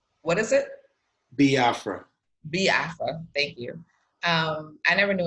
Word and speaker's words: Biafra: knew of and I'm gonna fuck up the pronunciation again, but the Biafra War. Biafra. Like, what is it? Biafra. Biafra.